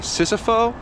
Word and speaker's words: Sisofo: Say it with me. Sissofo? That's how I say it.